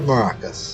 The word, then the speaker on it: Maracas: a native Spanish speaker I would say Maracas but I try to understand obviously that when you speak a language for very long in this case English you won't be able to pronounce it exactly how a Spanish person will pronounce it just like I have